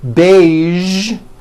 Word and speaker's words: beige: Now, there are only a few words that have the voiced zh sound at the end. A few of these words are the color beige, the word massage, and the word prestige.